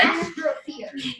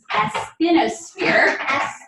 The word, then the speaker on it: asthenosphere: Astrosphere. It's asthenosphere. we were me and my mom were confused if it was mesosphere or astrosphere. Asthenosphere.